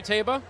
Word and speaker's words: Taba: debate about the pronunciation does that sound right to you taba yes that that that's the horse's name uh david probably tell